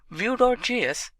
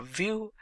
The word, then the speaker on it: Vue.js: Vue.js is commonly referred to as Vue and pronounced as Vue.js or Vue is rightly so.